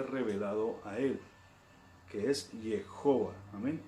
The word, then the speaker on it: Jehová: O bien se puede pronunciar Jehová o se puede pronunciar Yahweh. ¿Ok? Hay algunos que pelean que es de una manera y otros que otra, pero lo cierto es que el nombre se pronuncia Jehová.